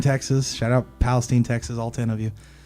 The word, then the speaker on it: Palestine: Well, so Palestine is how it's pronounced. Yeah, okay. Palestine, Texas. Shout out Palestine, Texas, all 10 of you.